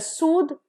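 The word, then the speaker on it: soothe: इज सूथ एंड सूद सो जिसमें ई नहीं है that will be pronounced as सूथ और जिसमें ई है it will be pronounced as सूद द आ रहा है तो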